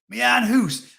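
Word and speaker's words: my house: Mian Hoos. I say it like that because that's how Geordies pronounce it.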